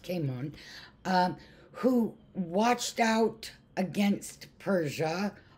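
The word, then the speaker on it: Cimon: Their leader was a guy named Caimon, C-I-M-O-N, and I think, believe it's pronounced Caimon, who watched out against Persia, also kept a lookout against Sparta.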